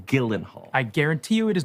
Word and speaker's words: Gyllenhaal: Camila Cabo Gillen Hall your name is pronounced Gillen Hall I guarantee you it